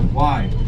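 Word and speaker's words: wye: Because we are technically traveling in the wrong direction, we're going to be turning our locomotive around in what we call our Y, pronounced W-Y-E.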